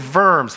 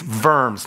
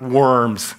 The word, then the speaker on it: Worms: in the city of verbs whenever you see German and a German word and it's a W it's always pronounced with a V it's verbs not worms don't think Nightcrawler so